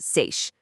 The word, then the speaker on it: seiche: That's pronounced seiche.